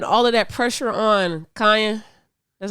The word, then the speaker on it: Kanye: right mellow putting all of that pressure on Kanye that's how you say his name yeah okay